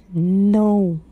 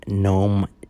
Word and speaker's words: Noem: Kristi Noem. Noem? Is Keemstar The governor? No, not gnome. G-N-O-M-E. It is not spelled that way. Well, how is it spelled? I'm pretty sure it's spelled N-O-E-M.